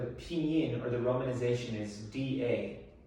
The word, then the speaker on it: 大: or the romanization is d a da right and it's a downward tone four tones in chinese this is the downward tone so say with me